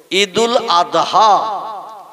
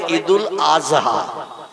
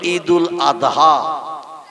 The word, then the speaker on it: ঈদুল আদহা: ঠিক তদ্রূপ ঈদুল আদহা এ শব্দটা হলো শেষে দোয়াত উচ্চারণ করতে হয়, কিন্তু ওরা বলে ঈদুল আজহা। কি বলে? মানে জয় অক্ষর উচ্চারণের মতো আওয়াজ করে বলে। আমরা বলি ঈদুল আদহা, কোরবানির ঈদ।